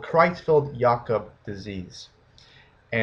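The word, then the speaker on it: Creutzfeldt-Jakob: n disease which is a little hard to pronounce it's called chfi yakob disease disease and it's a brain disorder that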